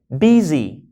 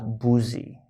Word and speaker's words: busy: Busy. Of course, you don't pronounce that as boozy.